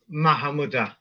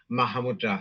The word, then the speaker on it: Mahamudra: again m style is mahamud you see but it's like if you're saying it's slow for people to hear then um you know you will say mahamudra so common pronunciation because